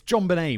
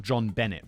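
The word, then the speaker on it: JonBenét: is it John Benet it's John Benet Ramsey not John Bennett Ramsey right I've made a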